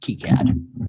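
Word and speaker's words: KiCad: yeah even though it's spelled Kai cat it's pronounced keycad okay cat meow I've seen a presenter at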